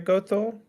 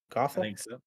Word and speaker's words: Gothel: other things gonna ink Mother Gothel is how you say it Gotham and uh we'll see